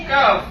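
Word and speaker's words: calf: যেমন ধরো সি এ এল এফ, এখানে দেখো আমি লিখেছি এ ও ইউ। যদি এল এর পূর্বে, পূর্বে মানে হচ্ছে সামনে বা আগে বোঝানো হয়, তো দেখো এখানে এল এর আগে কি রয়েছে? এ সি এ এল এফ। কি হচ্ছে এটা? কাফ। কাফ মানে কি?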